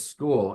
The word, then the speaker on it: Skool: You don't see it on the school platform?